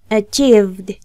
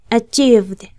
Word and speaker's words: achieved: Así se darán cuenta que la ED final del pasado de lograr se pronuncia como una D. Así que sería de este modo. Achieved. Achieved.